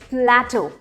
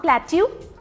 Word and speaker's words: plateau: The right pronunciation is प्लेटो, नॉट प्लेट्यू, प्लेटो।